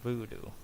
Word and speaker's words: VuhDo: This right here is my healing thing from Voodoo. It's spelled VUHDO.